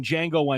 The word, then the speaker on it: Django: So he's the guy at the bar in Django Unchained when he's talking to Jamie Foxx. Jamie Foxx says, he's like, well, what's your name? He's like, Django. The D is silent.